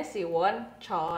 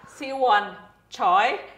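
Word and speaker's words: Choi Siwon: coy Kore enggak kalau di Korea dibacanya chy Siwon Oh ya kenapa enggak choy Si Won salah Ber di Indonesia tuh ada di beberapa acara disebutnya Si Won choice harusnya one choice kita baca Si Won choy Pak kamu tuh bacanya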